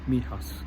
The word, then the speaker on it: Mijas: The white village, I've actually got the name of it now, it's called Mijas, is the way it's pronounced, Mijas.